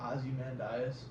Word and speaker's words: Ozymandias: I don't even know how to pronounce the title of that episode. Ozymandias.